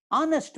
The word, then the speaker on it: honest: Honest man. HONEST man. But H is silent.